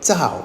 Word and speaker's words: 糙: Our final character today is fourth tone Tsao. It has 17 strokes and it means rough or coarse. Tsao mi, unpolished rice. As you just heard, this character can also be pronounced in the first tone.